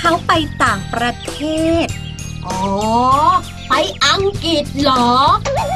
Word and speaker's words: อังกฤษ: ด้วย คำ ว่า อังกฤษ ออก เสียง ก ควบ ร ด้วย นะ ไหน 9 แต้ม พูด